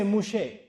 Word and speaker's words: Moshe: And they don't say Moussa in Hebrew, they say Moshe. So Tauratu Moussa, they say Taurat Moshe. That's how they pronounce it.